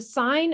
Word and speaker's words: sine: So this word is pronounced sine, like a stop sign. And the abbreviation for it is S-I-N. We don't say sin. It does look like sin, but that is pronounced sine. So when you see this